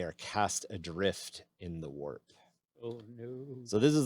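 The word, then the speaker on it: Waaagh: cast adrift in the warp oh no so this is the first time we've brought up an orc even though it's spelled wag it's actually the cockney pronunciation of war yes it's got a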